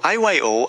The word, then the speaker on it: iyo: IO ang iyo ay nangangahulugang io. Ang tamang mabasa. Hindi ko maintindihan ang iyong sinabi. Maaari mo bang ulitin ito? Ang tamang pagbasa doon ay iyo.